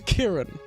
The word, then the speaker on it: Kirin: I like the reference to Kirin, the Japanese alcohol up there. Kirin. Kirin. Not kiddin. It's kirin. One more syllable.